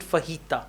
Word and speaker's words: fajita: Fajita is maybe in English, but actually it's a Spanish word. So in English also, we pronounce it fajita.